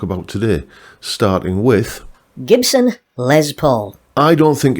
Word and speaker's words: Les Paul: And um he kept pronouncing it Lay Paul, as if it was like, you know, a French pronunciation.